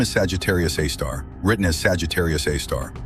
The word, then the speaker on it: Sagittarius A*: Its name is Sagittarius A star, written as Sagittarius A star, pronounced a star.